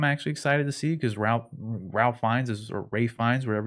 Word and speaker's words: Ralph Fiennes: The King's Man, I'm actually excited to see because Ralph Fiennes is, or Ray Fiennes, whatever you wanna call him, whatever however he likes to pronounce it. It's spelled Ralph, but everyone says Rafe.